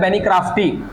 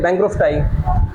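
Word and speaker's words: bancrofti: और एक दूसरा है बेनिक्राफ्टी, यहीं पे लिख देते हैं, बेंड्रो। हाँ वही तो, ठीक है, बैंक्रोफ्टाई।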